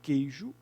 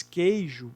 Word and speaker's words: queijo: Na palavra queijo, o Q com U, essa expressão, o Q com U, corresponde a um único som. Né? Quando você diz queijo, você não pronuncia o U do queijo.